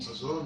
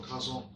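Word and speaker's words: חזון: And Hazon or Kazon? you asked the pronunciation? It's h, silent C, hazon.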